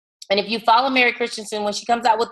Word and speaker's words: Christensen: Hold that book up again because it's spelled different than Jessica. Jessica, hold your book. Oh, there we go. Yeah, it's Christensen, Tensen.